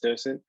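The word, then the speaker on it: dDocent: And just for correction, the D is silent, the first D, so it's just docent, just to throw it out there.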